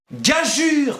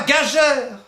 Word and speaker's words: gageure: confiance je vous écoute gageure qu'on ne prononce pas gage heures quel est le tarif